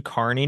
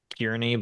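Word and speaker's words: Kearney: uh a circus yeah it's carne it's spelled k a r NE y yeah so it's really kiery but you know anyway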